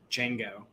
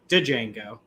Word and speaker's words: Django: My mind immediately went to Django, with the D being silent and everyone calling it Django.